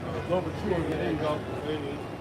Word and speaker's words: Louverture: I couldn't pronounce it. Yeah, something like that. Yeah, his last name starts with an L. Louverture.